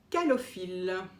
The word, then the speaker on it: Calophylle: Alors il y en a deux, moi j'ai choisi celle de Calophylle. Alors, vous voyez évidemment toujours à l'envers, mais ça s'écrit C-A-L-O-P-H-Y-2-L-E, Calophylle.